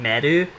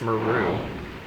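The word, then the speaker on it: Meru: Which I heard someone, like, during a Let's Play pronounce her name as that, Madu. And I'm like, I hate you. It's Maru.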